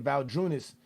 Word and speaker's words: Valanciunas: Again, Valanciunas. Is it Valanciunas?